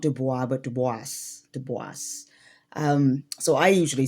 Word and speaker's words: Du Bois: close we b and we usually say dubis which is the French way but my understanding is that dubois did not actually say his name as dubois. He actually said it as dubis or dubis.